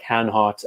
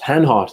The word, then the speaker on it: Hanhart: of the time like hanhat and green and i hope that's how you say it um i think greenland's french though oops it's hanhart especially as a manufacturer